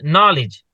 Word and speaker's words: knowledge: Like in English also, we say knowledge, but there is no K. K sound is not there.